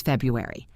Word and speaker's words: February: For February, remember the 4 seasons have 4 syllables, and so does February. F-E-B, Ru, air, E, 4 syllables. First one stressed.